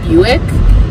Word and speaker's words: Buick: name for is a buick but it's spelled just like quick and they don't rhyme and i've always thought